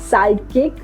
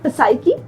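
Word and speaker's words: psyche: पी silent होगा okay अब क्या हम इसको पढ़ते हैं प साइ की नो we pronounce it एज साइ की रूल क्या है कि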